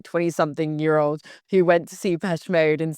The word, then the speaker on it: Depeche Mode: Depeche, like past. Depeche Mode.